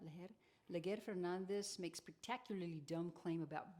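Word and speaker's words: Leger Fernandez: Leguer Fernandez makes spectacularly dumb claim about Biden's border.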